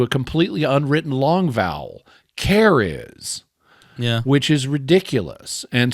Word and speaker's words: C'rizz: apostrophe r i ZZ so that should be pronounced something like kuris but instead they've turned it the apostrophe into a completely Unwritten long vowel Caris yeah which is ridiculous and similarly his wife's